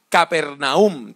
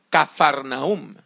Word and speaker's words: Capernaúm: galilea que se llamaba capernaúm también se puede pronunciar como cafarnaúm y usted puede ir